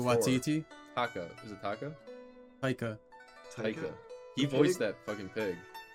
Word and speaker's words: Taika: Taika.